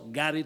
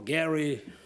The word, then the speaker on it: Garry: My father named me for Harry Truman, but it's a hard G sound in Russian. So it's also Gary Truman and that famous wizard, Harry Potter.